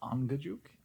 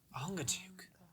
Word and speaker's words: Angajuk: His name is Angajuk. A-N-G-A. J-U-K. I'm gonna have to phonetically figure out how to write that down. Ongajuk.